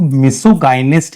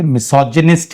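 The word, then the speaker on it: misogynist: लेकिन जब आप मिसियन के साथ मिला के इसको कहोगे तो इसको मिसोगाइनिस्ट नहीं कहोगे, मिसोजिनिस्ट कहोगे, मिसोजिनिस्ट।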